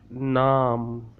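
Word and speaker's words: نام: It pronounced like naam, naam.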